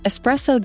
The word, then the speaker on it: espresso: meaning to press out also don't pronounce it with an X lest you want to seriously enrage a coffee snob